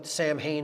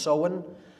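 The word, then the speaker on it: Samhain: in pronounced so and it looks like sam hayne in english but it's pronounced so in uh in gaelic and that is halloween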